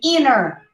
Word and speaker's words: internet: video clip not clippy internet here try not to pronounce the t it's a very subtle sound you say inner inner see you don't hear the tea almost good again not